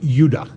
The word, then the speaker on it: Judah: were called benjamin and judah more properly pronounced yudah because we didn't get the harder sound to the j until about 200 years ago so this is what